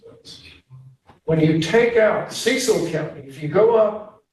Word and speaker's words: Cecil: When you take out Cecil County, if you go up, now I say it like a Marylander, not like in an English, but I don't say Ceil, but you go up to